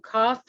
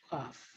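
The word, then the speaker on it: qoph: presentation is i'm good i probably say long cough q-o-p-h cough cough i don't know how to say it any of you who know hebrew out there please feel free to correct my pronunciation it's actually a symbol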